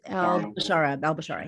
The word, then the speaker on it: Al Bashara: With I can never pronounce his name. I'm so sorry. It's Al Bashara.